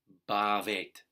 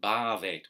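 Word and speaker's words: भवेत्: So come to exist is bhavet. See, that's typical bad pronunciation. Bhavet would be English pronunciation. The Sanskrit is bhavet, short, long, bhavet.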